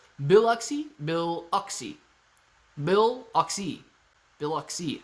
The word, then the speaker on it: Biloxi: on the coast bill biloxi biloxi okay biloxi is how it sounds when you say it great try clay yeah thanks man thanks biloxi biloxi emphasis is on the bill biloxi bill oxy bill oxy